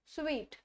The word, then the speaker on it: suite: स्यूट स्वीट, इसको भी हम प्रोनाउंस करते हैं SUIT, इसकी जो प्रोनाउंसिएशन होती है वो होती है सूट, लेकिन जब SUITE हो जाता है द प्रोनाउंसिएशन इज स्वीट।